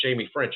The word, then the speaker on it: Ffrench: the way it is it is pronounced Jamie French I'm surprised a lot